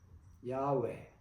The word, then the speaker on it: 야웨: 글자로 만든 것이 JHBH고 야외 또는 여호와라고 발언을 시도하였습니다. 정확성이 의심되었으나 그 훈련에 사우디아라비아 반도서북단 이스라엘이 광야 생활하던 곳에 바위에서 야외 Yahwe라고 몸이 삽입된 글을 바위에 새긴 것을 발견함으로써 그 발음이 맞다는 것이 입증되었기도 하였습니다.